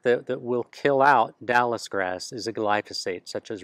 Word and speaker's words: Dallisgrass: one that is hard is is one called Dallas grass and that is spelled D A L L I S and